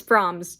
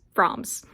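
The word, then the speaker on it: Frohms: go out froms yeah the announcer pronounced her name her name kind of weird forms it's like it's froms just froms two minutes great defending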